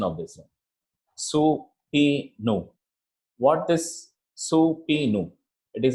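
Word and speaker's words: subpoena: It is pronounced as, I'll just go to the next slide so that you can understand what actually the pronunciation of this one. Supinu.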